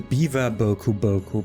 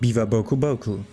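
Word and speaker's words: Biwa-bokuboku: me for a second the beaver boku boku pronounced biva boku boku akai taking the form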